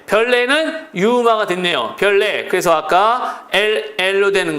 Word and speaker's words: 별내: 얘는 발음이 중요합니다 신문 노예요 그러기 때문에 신문노 발음하는 거요 종로 이도 비하지 종노 왕심리 역시 비음화 그다음에 별내 별내는 유마가 됐네요 별레 그래서 아까로 되는 거 리 되는 건로 정다